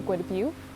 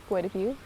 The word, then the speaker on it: Guadabu: His name is also Guadabu. That's how you say it in Lushootseed, Guadabu.